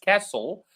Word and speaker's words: castle: Yes, castle. Whenever. So the T is silent.